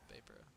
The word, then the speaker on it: Vaporo: Vaporo. Vaporo. Like Vape.